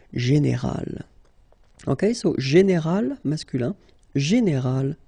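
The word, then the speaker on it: générale: But then phonetically it's quite interesting because you don't uh make any difference. You will get so general at the masculine form and it will be exactly the same thing at the feminine form. General.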